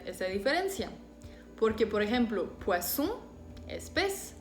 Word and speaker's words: poisson: Por ejemplo, Suisse, saison, sel, poisson. Y ya ven que a veces sí es muy importante hacer esa diferencia. Porque, por ejemplo, poisson es pez o pescado.